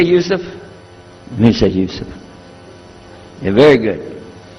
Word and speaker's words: Yusuf: other gone my name is Yusuf he say Yusuf Misha you sir very good I wish you teach my wife she keeps mispronouncing it she calls me humbly now how many of you were in